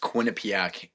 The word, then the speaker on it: Quinnipiac: it's pronounced Quinnipiac.